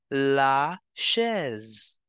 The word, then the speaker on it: chaise: S is between two vowels, so we have to change the sound of S to Z. It is starting with CH, so sh sound will come. Chair will be pronounced as la chaise.